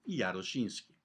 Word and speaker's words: Jaroszyński: Jaroszyński, escrito em português, Jarozinski, e pronunciado assim, com essa grafia em polaco, Jaroszyński.